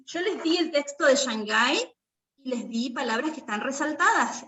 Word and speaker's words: Shanghai: s nuestra palabra city no pueden poner shanghai porque si bien se escribe con s ch tiene otro sonido sí gracias profe bueno